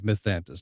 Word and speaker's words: Mythantis: okay, Uh, Timeaous Spark and the Luck Curse is set in the world of Mythantis. Now, did I pronounce both correctly?